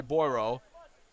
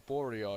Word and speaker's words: Borio: as good pressure there by Boyro. Or Borio, I should say. For pronouncing his name all wrong. So last touch is taken by Mustafa Borio.